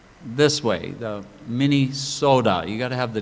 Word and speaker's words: Minnesota: pronounced this way the Minesota you got to have the D there is no T in Minnesota and then uh not